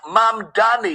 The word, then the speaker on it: Mamdani: What This is New York City Mayor Zoran Mamdani, pronounced Mamdani.